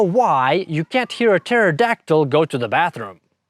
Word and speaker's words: pterodactyl: And do you know why you can't hear a pterodactyl go to the bathroom? That's because the P is silent.